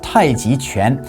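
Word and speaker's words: 太極拳: So when you think of Tai Chi, or in Chinese it's pronounced Tai Chi Quan, you may think of old people in the park in the morning practicing slow movements for health.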